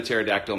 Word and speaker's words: pterodactyl: Why doesn't a pterodactyl make any noise when it's going to the bathroom? Because the P is silent.